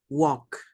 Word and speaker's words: walk: walk. Walk. Snakes can't walk. Remember, walk. Aunque Walk. tengamos la L, no se pronuncia.